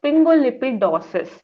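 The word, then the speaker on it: sphingolipidosis: down the words okay for example the first category is pingolipidosis so just break it as spring go then lipid and then OSIS Pingo lipid is a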